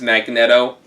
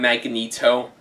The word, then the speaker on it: Magneto: And by the way, I do pronounce his name as Magneto, not Magneto, because honestly, Magneto sounds really lame.